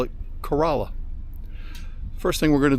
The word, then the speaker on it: Corolla: I'm in a town of corala today it's pronounced corala but it's spelled just like Corolla just like the Toyota but the uh locals call it corala first thing we're going to do is air